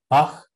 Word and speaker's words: Bach: So this velar fricative is the sound at the end of a German word like Bach, which we don't have, at least natively in my variety of English.